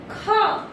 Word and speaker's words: ख: How to pronounce? Kha.